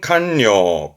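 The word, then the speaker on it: 官僚: 관료 관자음 요게 관료다 관료 발음은 칸료 칸료 장관이죠 정부 부처에 그죠 장관을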